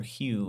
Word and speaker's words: Hoe: Tyler Hoe had two interceptions. What What are you guys thoughts on on Koffax? It's actually pronounced Tyler Hugh. I know it's spelled like it might be ho, but that's coach